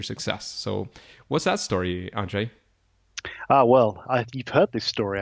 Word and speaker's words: Andrzej: You're close enough. It's Andrzej. Andrzej. Okay, fantastic. We both have Polish background, so I'm trying my best, but of course I don't speak Polish either. So you got right. It's Andrzej's the one that gets everyone. They all kinds of pronunciations. Yeah, the R and the Z, that kind of pronunciation is not an easy one.